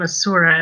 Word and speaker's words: Asura: So, it's Asura, or is it Asma? I always forget. We tend to look at the name Asura as the correct pronunciation.